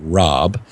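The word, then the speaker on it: Raab: I was talking with Dr Fred Rob that's spelled r aab who was the managing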